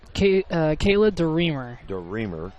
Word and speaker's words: DeReamer: Kayla DeReamer. So the emphasis is on the middle syllable.